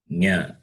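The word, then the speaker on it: ञ: The last one, that is fifth letter of class, is nasal. Yeah. So Cha, Cha, Ja, Ja, Nya.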